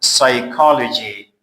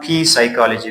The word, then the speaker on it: psychology: Like you can say this word psychology, روانشناسی. It is not P psychology because P is before S. P before S, P is silent. Don't say P psychology, okay? It is an absolute mistake.